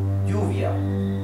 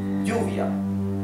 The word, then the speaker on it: lluvia: The word for rain, which in Spanish is lluvia, okay? Lluvia. In Argentina and in Uruguay is pronounced lluvia.